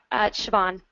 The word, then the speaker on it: Siobhan: How do I pronounce it? Siobhan.